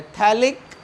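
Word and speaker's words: phthalic: पर लगाऊं COOH तो थैलिक एसिड, P साइलेंट रहता है, थैलिक एसिड, और इधर लगाओ COOH पैरा पोजीशन पे तो आप इसको बोलेंगे टॉफ्थैलिक एसिड।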